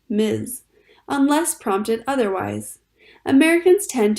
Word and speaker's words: Ms.: Generally speaking, it is polite to call a woman Ms., pronounced Ms., unless prompted otherwise.